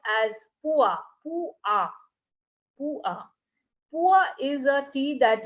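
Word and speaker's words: Pu-erh: p-u-e-r-h and what is it that's that is pronounced as pua pua is a tea that is only available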